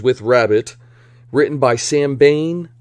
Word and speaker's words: Bain: rabbit written by sam bain rhymes with kane and starring drew barrymore